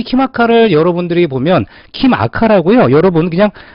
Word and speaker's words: KIMACA: 키마카 발음 그대로 키마카. 킴 아카데미 요런 킴 더하기 아카데미, 제 성이 킴이잖아요.